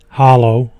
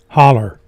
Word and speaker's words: holler: Whitman holler boat dock there's two way to say it two ways to say it as there both ways as they holler hallo I guess the the correct pronunciation if you're from around here is holler so that's that's what